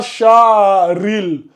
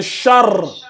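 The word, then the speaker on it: شر: Non, c'est pas écoute, c'est pas sharil. C'est char.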